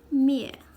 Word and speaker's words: 灭: file will be put out at once it's pronunciation is mere means extinguish will pull out put out cho-jen